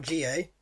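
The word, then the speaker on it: N'Jie: Clinton G, or GA, has gone to Tottenham. It's spelled NG, but apparently the N is silent. So it's Clinton GA.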